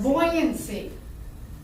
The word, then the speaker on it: buoyancy: that controls buoyance be how do you say buoyancy buoyancy buoyancy can you relate to this yourself though